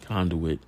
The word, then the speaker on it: conduit: Like, I don't want to be a conduit, that's the right way to say it, conduit.